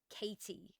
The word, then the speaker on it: KT: I have genuinely met somebody who is legally called Katie. Capital K, capital T. That is their legal name. Pronounced Katie, like Katie, like a normal Katie, right? But it's spelled KT.